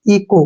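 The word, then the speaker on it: echo: देखिए कैसे पढ़ते हैं ई का उच्चारण ई के रूप में ही करेंगे और यहां पर सीओ का जो उच्चारण है वो को के रूप में होगा ठीक है क्योंकि सीच के बाद वावल आया है ठीक है और सीच से पहले भी वावल है तो जो इसका उच्चारण बनेगा सीओ का को बनेगा इको क्या पढ़ेंगे इसको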